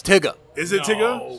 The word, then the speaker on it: Tyga: Is it Tyga?